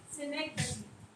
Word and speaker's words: synecdoche: It is pronounced as synecdoche.